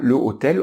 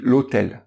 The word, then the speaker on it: l'hôtel: un h en français le hb n'est pas prononcé il est soit muet comme par exemple dans le mot hôtels ont dit pas le hôtel on dit l'hôtel donc le hc comme